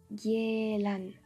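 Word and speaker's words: 계란: Cela se prononce gielan.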